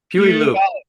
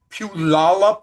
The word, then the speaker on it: Puyallup: How do you pronounce the name of the city you guys live in? Puyallup.